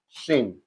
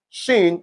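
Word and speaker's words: شين: And for the pronunciation t your tongue touches your upper teeth and for shin your tongue touches does not touch anywhere for shin it does not touch anywhere shin just shin that's it.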